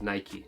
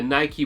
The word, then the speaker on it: Nike: one of two reasons the Nike brand name derives from the ancient Greek goddess of victory and her name was Nike so it originates from a Greek word unlike the English words such as bike as well as that